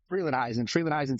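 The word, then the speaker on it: Frelinghuysen: Freelandheisen Township.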